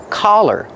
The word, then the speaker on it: collar: Pronunciation, use the sound ah, the open sound ah, like hot and stop. Ka, collar. Don't be confused with color. Color has the short sound like cup and up.